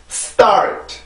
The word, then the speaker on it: start: 자, 이렇게 발음이 되는데 지금 제가 어떻게 발음을 하는지를 보세요. start, start, start.